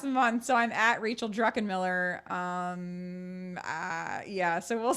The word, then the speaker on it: Druckenmiller: people can find it so it's d r u c k e n m i l l e r pronounced druckenmiller and unmuted life is